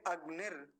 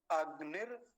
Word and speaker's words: अग्नि: आवाज कट रही है इसको बोलेंगे अगनि अगनि ऋषि मैं नीचे लिख देता हूं देखिए और आसान हो जाएगा आपके लिए अगनि ऋषि ऐसे अगनि ऋषि ऐसा इसका उच्चारण होगा ठीक है चलिए कौन